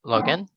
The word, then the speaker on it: login: first word login yes login login it's like lock in not legion not with j i n but lock in how about the second